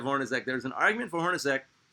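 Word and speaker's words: Hornacek: Jeff Hornosk. Yes, it's spelled Czech, but it's pronounced Sack.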